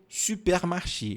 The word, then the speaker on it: supermarché: Il veut aller au supermarché. Il veut, você já sabe, il veut, ele quer. Il veut aller au supermarché. Olha aqui. Il veut aller au biquinho, ó, supermarché. Supermarché.